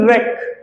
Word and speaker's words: wreck: the fourth one is wreck wreck is destroyed the it's spelled as w r e c k Northern W is silent here what do students write